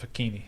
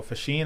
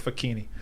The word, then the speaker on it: Facchine: The Italian pronunciation of fuh-KEEN-ee, and I've been rolling with that since. I thought it was Facchine. No, Facchine is the Americanized version.